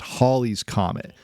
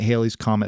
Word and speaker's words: Halley's Comet: to tell us that it should actually be pronounced Holly's Comet but by that point calling it Haley's Comet had already stuck news reports would transition